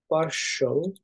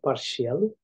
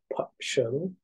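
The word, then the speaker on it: partial: 8 নম্বর হচ্ছে পার্শল, পার্শল বলছি, এটা অনেকে উচ্চারণ করে পার্শিয়াল, তো এটা উচ্চারণ হলো পার্শল, পার্শল লিঙ্ক টেক্সট, টেক্সট, ওকে।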